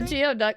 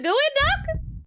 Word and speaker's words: geoduck: I said I mean a geoduck. It's pronounced goo. It's a gooey duck.